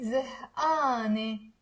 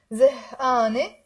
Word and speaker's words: زهقانة: زهقان, you will say زهقانة with the A in the end. زهقانة. You can also pronounce it Mount Lebanon style, زهقانة. Okay, instead of the a, we will say a.